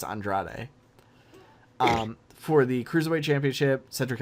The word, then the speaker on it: Andrade: pronouncing his name because I always want to say Andre but it's Andrade for the cruiserweight championship Cedric Alexander vs.